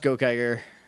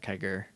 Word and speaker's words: Gokaiger: I want to watch gokaiger gokaiger not kegger I'm never going to get that correct even though Ranger doesn't matter it's still it looks like it looks like it should be a hard G and it isn't anyway yeah so season